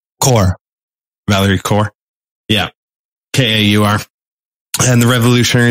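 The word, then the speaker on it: Kaur: her name i i always go to the pronunciation guide beforehand yeah core core valerie core yeah k-a-u-r and the revolutionary love circle and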